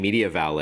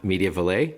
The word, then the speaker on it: MediaValet: And so, I've been saying Media Valle and you're saying Media Valle. Am I saying it wrong? No, you're saying exactly right.